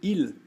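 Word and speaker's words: ils: coisa que no português eu só vou acrescentar um s eu digo Il que nem no singular Ah olha só elas l e só acrescento um s que não é pronunciado perfeito tá agora a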